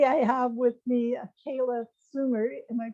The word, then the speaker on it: Soomer: have with me kayla sumer am i pronouncing that right yep yep kayla bloomers so if you're swedish it would be somer oh okay and kayla